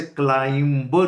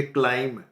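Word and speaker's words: climb: ladder बोलते हैं और ये जो वर्ब है इसे क्लाइंबर नहीं बोले क्लाइम यानी इसमें बी का उच्चारण नहीं होता क्लाइम ये वर्ब है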